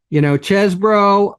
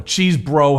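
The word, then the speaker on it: Chesebro: While the defense attorneys, right, for, Chesbro or Cheesebro, however the fuck you pronounce his name. Chesbro, by the way, I'm here to tell you. Chesbro. It is Chesbro.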